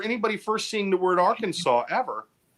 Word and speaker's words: Arkansas: the truth it is illegal to mispronounce the name of the State Arkansas so if somebody comes down there and says it's nice to be in AR Kansas you g get arrested